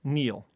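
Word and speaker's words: kneel: w and Neil okay the K which was silent until I spelled it earlier and that's your missing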